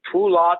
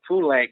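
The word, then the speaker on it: Poulenc: name some people say pull off and some people say poo lang and since you said poo like i will continue to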